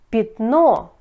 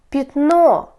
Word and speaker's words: пятно: сестра отлично слушайте 5 пятно 5 пишите я говорите я пятно пишите я говорите и почему я под ударением говорите я я без ударения говорите и слушайте смотрите город город